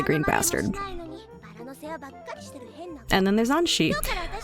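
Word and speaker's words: Anthy: And then there's Anshi. Spelled Anthe, pronounced Anshi.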